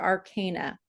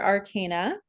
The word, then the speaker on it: Arcana: is the very first card in the major Arcana uh I've been calling it Arcana now for